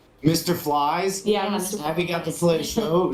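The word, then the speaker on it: Phylz: Flies.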